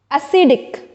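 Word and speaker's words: acidic: सी आईडी ठीक है जब हम इसको प्रोनाउंस करेंगे तो we will say we will put stress जोड़ देंगे ए पर एसिड but when we will pronounce this word a सी आई डी आई सी इट it will bomb become एसिडिक ठीक है ना तो सी पर ज्यादा स्ट्रेस आ जाता है यहां पर ओके सो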